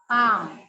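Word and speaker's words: balm: okay அடுத்தது எப்படி படிப்பீங்க பாம் பாம் பாம் இதுல எல் சைலெண்ட் பாம்னா வலி நிவாரணி பாம்னா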